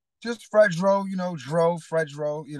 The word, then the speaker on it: Fredro: yeah you know Fredro a lot of people can't pronounce my name like Spike Lee calls me Fredro and Funk Master Flex says my name frasero like but it's Fredro just to let everybody